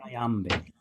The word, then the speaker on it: iambic: Very hard word to say, but trochaic and iambic. And basically what that means, iambic means the second syllable is stressed.